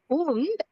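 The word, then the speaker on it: und: ஒன்னு படிச்சிட்டு அதுக்கப்புறம் டூ வரும் அதாவது எப்படின்னா எயின் உண்ட் ஸ்வான்சிஸ் அதாவது 21ல தான் எய் உண்ட் ஸ்வான்சிஷ் அப்படின்னு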